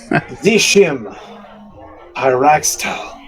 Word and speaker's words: Zishim Pyraxtal: I have to learn how to pronounce this shit. Oh God. Zishim Pyraxtal.